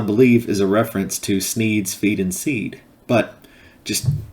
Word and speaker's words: Sneed: the shop is called sneed's Feed and Seed where Feed and Seed both end in the sound Eid thus rhyming with the name of the owner Sneed it's call me a